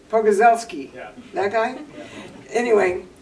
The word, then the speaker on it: Pogorzelski: See, what is the guy's name over at the is Mark Pogolachevsky? How do you say that? Oh, Mike Pogorzelski. Pogorzelski.